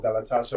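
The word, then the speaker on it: Galatasaray: Ry, not ray. No, not galatas. Galatas. Galatas. Okay. All right. I have to learn that pronouncing Galatas. Not Ray.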